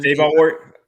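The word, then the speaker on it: Adebawore: Adebayor. I got the pronunciation. Adebayor. Adebayor. Adebayor. Okay. Yeah. The Y W is like a Y sound.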